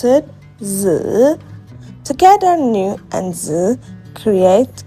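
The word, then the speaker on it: 子: We pronounce it "zi".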